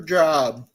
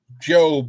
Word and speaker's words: Job: Job Jr. Well, it's Hello, actually Job, pronounced Job, I believe.